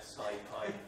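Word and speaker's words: SciPy: is spelled S-C-I-Y, but I'm going to call it Syfy, as in hi, from now on.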